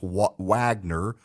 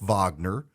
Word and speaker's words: Wagner: It looks like it's Wagner, but it's pronounced Wagner, and they've gone to Syria.